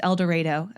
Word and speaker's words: El Dorado: Community College so save it I know it's pronounced eloro okay I would never call it that I